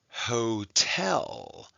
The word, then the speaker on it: hotel: Okay, and ho is an open syllable. Ho, tell. And that's a closed syllable.